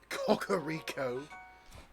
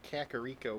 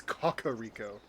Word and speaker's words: Kakariko: Kakar Rico. Apparently, that's how you're supposed to pronounce it. I always just say Kakaro, but I guess that's my uh I guess that's my Midwesterner coming out. Um, but yeah, that's how I always pronounced it. But I guess I'm wrong. It's Cocoa Rico.